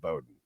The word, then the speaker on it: Bowden: I always want to call him Bowen because it's spelled like Bobby Bowen, but he pronounces it Bowden.